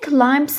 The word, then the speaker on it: climb: When it gets hungry, it climbs up a palm tree. بكلمة climb يتسلق البي لا تلفظ، وبكلمة palm tree ال لا تلفظ.